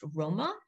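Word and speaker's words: rmṯ: people, the ancient Egyptian word for people is remach, which we know from Coptic would have been pronounced Roma.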